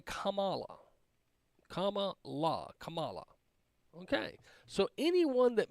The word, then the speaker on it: Kamala: Kamala. Okay, so anyone that mispronounces that is a racist, according to them. Let's keep listening. Kamala. So easy. Democrats see racism in the GOP mispronunciation of her name.